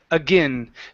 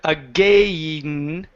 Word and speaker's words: again: word again right here instead of saying again with a long a sound at the end it's a short i i a again time and time again and okay one more